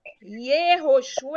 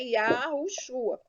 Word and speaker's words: Yahushua: Então, Yehoshua é errado. Na verdade, é Yahoshua. O nome certo é Yahushua.